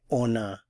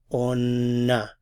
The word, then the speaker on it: on a: But when you use the verb avoir, because it begins with a vowel, there's liaison, so we have to pronounce the N.